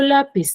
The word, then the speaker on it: lápiz: Pero, por ejemplo, lápiz, ¿dónde tiene la mayor fuerza de voz? En la. En la sílaba la. Lápiz. La es la penúltima sílaba, termina en Z.